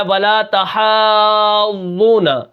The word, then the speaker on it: وَلَا تَحَاضُّونَ: پڑھیں گے، ٹھیک ہے۔ واو زبر و، لام الف زبر لا، ولا، تا زبر تا، ولا تا، حا کھڑا زبر مد، ضاد حا، ضاد واو پیش ضو، ولا تحاضوا، نون زبر نا، ولا تحاضون۔ اب یہاں پر میں